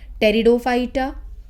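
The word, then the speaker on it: Pteridophyta: सी plants होते हैं थैलोफाइटा, ब्रायोफाइटा, टेरिडोफाइटा, P silent रहता है बोलने में, टेरिडोफाइटा और जिम्नोस्पर्म्स, एंजियोस्पर्म्स।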